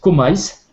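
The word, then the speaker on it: KMYS: ce code c'est comil ça s'écrit K m Ys K m y s ça se prononce comise et ça vous allez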